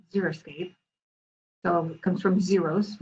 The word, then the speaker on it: xeriscape: a scene so together xeriscape but it's a funny word too people often mispronounce it it's that x it throws you up every time so here's a few